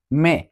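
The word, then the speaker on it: me: তো জো এর objective form হচ্ছে মে। আমরা জানি যে স্প্যানিশে ই মানে এটা এর মতো উচ্চারণ হয় না, তাহলে মে, মে মানে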